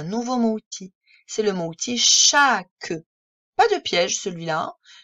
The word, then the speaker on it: chaque: On sait lire tous les sons. Le ch, on connaît. Le a, évidemment, on connaît. Et c'est le k de masque. Et le e pour faire que. Chaque.